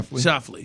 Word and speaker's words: Schauffele: Schauffele.